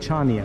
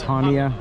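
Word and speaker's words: Chania: Now the other day I kept pronouncing it Chaia because of the way it was spelled ch but that's silent. So it's Hania.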